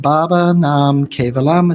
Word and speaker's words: Baba Nam Kevalam: It's pronounced Baba Nam Kevalam. It's in the Sanskrit language.